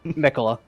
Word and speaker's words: Michaela: Mikola. Mikola? Okay. I'm gonna... Yeah. Japanese style pronunciation where the stress is on the first syllable and only the first syllable.